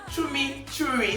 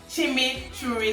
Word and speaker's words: chimichurri: very comfortable now yes let me try and pronounce it chumi cherry sauce no it's cheesy okay chew rice okay chimichurri sauce yes i got it it's a chimichurri sauce